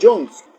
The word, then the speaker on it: Jones: Y Alonso Jones, o Jones, como se pronuncia.